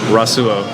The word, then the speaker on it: Rasuo: Rasuo. Rasuo. Yeah. Almost like Rasuo, but Rasuo.